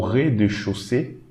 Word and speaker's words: rez-de-chaussée: We read this AU again as O. EZ as E. So re. Okay, this AU again as O. And we should not read this silent E. Okay. So, au rez-de-chaussée.